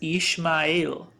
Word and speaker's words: Ishmael: easier one which is isma'il in hebrew it's pronounced as ishmael ismail versus ishmael but let's take an